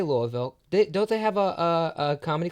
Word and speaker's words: Louisville: I'm from Louisville, Kentucky. Louisville. Oh, cool. Yeah. Cool. You say it right.